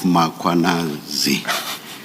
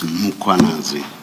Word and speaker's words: Mkhwanazi: You repeatedly talk of muanazi. There is no a right at the beginning of uh that first syllable. The a is after the h. So it's muanazi, not muanazi.